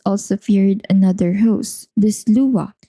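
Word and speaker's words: Sluagh: But the Kelts also feared another host, the Lua. It's spelled as S L U A G H but pronounced as Lua.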